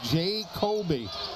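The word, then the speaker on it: Ja'Coby: Rezesh takes a seat now and J Kobe Osborne and that's how he spells it and pronounces it. It is J A Epostrophe C O B Y. It is J Kobe as opposed to Jacobe Hill for Jacksonville.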